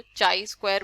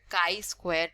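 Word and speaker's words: chi-square: बहुत से लोग इसको चाई स्क्वायर बोलते हैं, ठीक है, चीज स्क्वायर बोलते हैं, बट इसको प्रॉपरली जो प्रोनाउंस किया जाता है वो बोला जाता है काई स्क्वायर टेस्ट, ठीक है।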